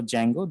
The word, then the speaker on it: Django: or you know a django um the d is silent here actually so uh django these are the libraries